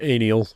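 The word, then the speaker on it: Anielle: And I believe it's pronounced Aniel.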